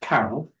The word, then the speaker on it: Carroll: because my surname is Carol and it's spelled C A O D L and it's it's like the word Carol that's in the the title of the novel.